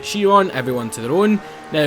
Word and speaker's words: Chiron: the new Bugatti Chiron or Chiron, however the hell you want to pronounce it. I don't really care how you pronounce it. Um, I pronounce it Chiron.